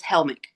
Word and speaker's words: Hellmich: He is from the north and he has German descendants and so it is Helmick.